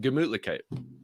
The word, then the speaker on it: Gemütlichkeit: But Gemütlichkeit. Um, it's almost like Gesundheit, like a sneezing here.